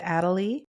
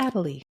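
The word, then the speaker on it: Adélie: It's the Adalie. Oh, that's a cute name. Adalie. I think that's how you pronounce it. A D E L I E.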